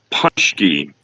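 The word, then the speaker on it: Pączki: He has a great way of putting in how to pronounce stuff, and I always screw it up. And he's correct. Punchki is what I was talking about.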